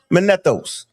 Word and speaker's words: Manetho: The word Manethos wrong. See how I'm saying it right now? Manethos.